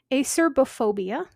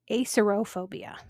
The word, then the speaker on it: Acerbophobia: This next one has two different pronunciations and spellings depending on what book you're looking at. Acerbophobia or acerophobia.